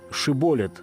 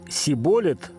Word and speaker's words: shibboleth: If he said, Nay; Then said they unto him, Say now Shibboleth: and he said Sibboleth: for he could not frame to pronounce it right.